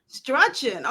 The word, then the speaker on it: Struchen: Did I pronounce the last name right? Absolutely not. Okay, what we gonna do? I'm gonna call her author Bobby. Okay, so pronounce the last name for me. It's pronounced Struchen. Struchen.